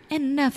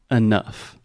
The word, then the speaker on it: enough: enough of that faster enough of that again we have the GH as an F sound enough enough perfect we have